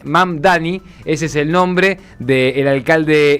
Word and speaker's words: Mamdani: Estamos hablando de Soram eh y vamos a pronunciar eh bien el apellido. Sonam Mdani eh Mamdani, ese es el nombre de el alcalde electo y que él se define como un socialista demócrata.